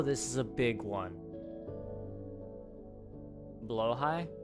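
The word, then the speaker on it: Blåhaj: Blow high? Blow? Really? Is that how you pronounce that? Huh. Yeah. Oh. Blow high.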